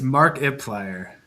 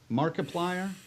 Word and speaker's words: Markiplier: I think it's Mark Iplier. Markiplier. Yeah. Oh, like multiplier.